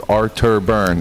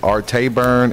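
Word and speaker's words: Arctorburn: you pronounce your name my last name is arctor burn I get art a burn and outer burn but kids who see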